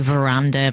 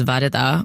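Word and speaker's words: Varada: first school it was everyone just call me verdada and then you know sometimes it' be veranda which is it would be so frustrating that meant that when I moved school I wanted it to be you either say my name properly which is vada or you call me.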